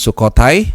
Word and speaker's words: Sukhothai: Dan kemarin dia membantu timnya mengalahkan Sukhothai, ini bacanya harus cepat ya, dengan skor 3-1.